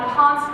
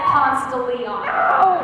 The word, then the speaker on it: Ponce de Leon: Tea Room on Ponce de Leon Avenue. Be sure to pronounce it Ponce de Leon. Okay, Ponce de Leon. Ponce de Leon. Girl, it's just Ponce.